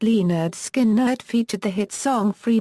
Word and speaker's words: Lynyrd Skynyrd: album with the subtitle pronounced Le nerd skin nerd featured the hit song